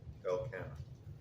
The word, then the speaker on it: Elkanah: Oh, no, how do you pronounce the priest's name? Elkanah. Elkanah? Elkanah.